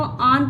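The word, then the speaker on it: own: Of means की your यानी कि अपनी अपनी आन इसको ऑन पढ़ा जाएगा। डब्ल्यू साइलेंट रहता है यहां पर।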